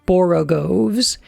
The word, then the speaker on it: borogoves: Again, the first O in borogoves is pronounced like the O in borrow. Borogoves. I have heard people try and give it the sound of the O in worry, such as human perversity.